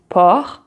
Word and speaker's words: porc: But be careful because you can have some words like porc, estomac, where the C is not pronounced.